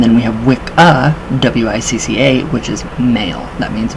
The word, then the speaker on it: wicca: you think all right wiccans think about that so right now in um anglo-saxon the phonetically pronounced word um wicca w-i-c-c-a which would be correctly pronounced witcha w-i-t-c-h w-i-t-c-h-a which uh